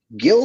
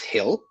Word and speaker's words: Gil: had a really bad couple Innings but he's Gil though um actually I believe it's pronounced Hill Lis Hill according to Michael K who I